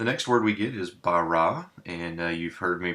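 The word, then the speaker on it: בָּרָא: comets so we get bara notice we pronounced the b or the bait rather as a b not a v because we have that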